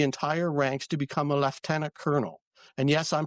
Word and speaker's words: lieutenant: It's left tenant. It's not lieutenant. Lieutenant is American. Left tenant is Canadian and British.